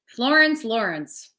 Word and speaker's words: Florence Lawrence: Florence Lawrence. It rhymes.